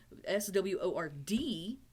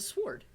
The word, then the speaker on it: sword: my heart swore light s-w-o-r-d all of a sudden the w doesn't exist it's a sword sword w-o-r-d is word